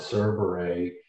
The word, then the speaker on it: Kerberos: And then you've got spirits like Nibirius, who was the three-headed dog Cerberus, if I'm saying that right, pronouncing that right, Kerberos, in the Greek mythology.